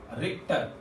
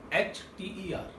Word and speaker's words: Richter: Scientist ने, given by Richter, RICH is silent over here, that is given by, that was given by Richter, RICHTER. तो H is silent over here and you have to read it as Richter.